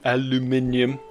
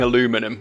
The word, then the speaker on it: aluminium: eyes open for a aluminium i keep almost saying aluminum which is the dumb american way of saying it and i understand that